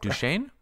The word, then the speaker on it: Duchesne: name apparently Deborah uh I'm gonna mispronounce this but douchingy something like Duchene Duchene thank you uh Deborah Duchesne um